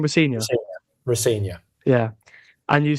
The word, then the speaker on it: Rosenior: And when you said about Liam Rosenior, how do you pronounce the second name? Rosenior.